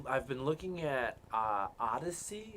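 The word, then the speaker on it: Odysee: been looking at uh odyssey it's not spelled correctly it's it's spelled really weird but it's still pronounced odyssey um that's where uh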